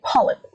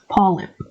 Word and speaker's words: polyp: The one way I can break that down is the word lip, polyp, polyp. There's nothing heavy. The sound of b is heavy. It's the back of the tongue. That sound is coming from the base of your tongue. But p is actually just from your lips.